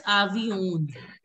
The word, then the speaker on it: avion: Some of you were pronouncing it as avion. It is, you don't have to pronounce the last N. You just have to pronounce till avion. And it's a nasal sound, so just put a dot. It should be avion. Avion. Okay? Don't have to pronounce the N.